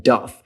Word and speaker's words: doth: tells young students that although we write the word hath and doth, we pronounce them as if they were written with an S, has and does.